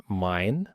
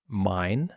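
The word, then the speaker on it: mein: حرف اي بعدها اي لو جا اي بعدها اي في نطق اي زي كلمه مثلا اي اللي هي عين بالانجليزي تخيل نفسك بتقول اي فتبقى مثلا لو خدنا مثال تبقى كلمه مثلا زي ماين ماين ماين او داين ماين يعني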